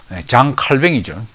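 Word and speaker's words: Jean Calvin: 그 다음에 이제 존 칼빈 3번. 원래 프랑스 사람으로서 장 칼뱅이죠. 스위스로 피신해서 이제 독일권에서 이제 살게 됐는데, 아니죠. 제네바는 나중에 프랑스어로서는 이제 스위스 지역이죠. 존 칼빈은 이 사람은 이제 루터와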